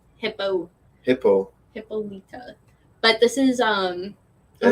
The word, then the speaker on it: Hippolyta: me out when she was outside um hipaa hippolyta i always butchered the pronunciation of her name hippo hippo hippolyta but this is um oh my god roberto